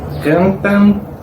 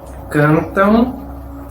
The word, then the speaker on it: cantam: No es AN, U, pero todo junto en un único sonido AN. No es cantan, dançam, brincam. Y sí, cantam, dançam, brincam.